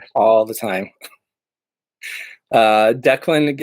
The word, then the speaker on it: Declan: all the time uh Declan is called d-clan all the time I'm not sure why there's no hyphen in there no extra capitalization but either way I